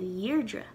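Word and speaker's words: Dheirdre: tashe lot a urdra the sound of her name changed from deirdre to yirdra and we added oh before it airdrie if the person's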